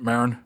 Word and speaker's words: Maron: so Mark Mar listen is that how you pronounce it Marin Marin yeah m a r o n yeah